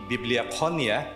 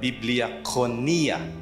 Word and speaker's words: Bibliakonia: So the way to pronounce the Greek is to pronounce every syllable. Okay, so it's not actually Bibliakonia, but Bibliakonia.